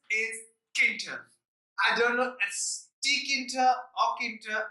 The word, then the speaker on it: Tkinter: catered I don't know tkinter aquata I suppose the T is silent but what is key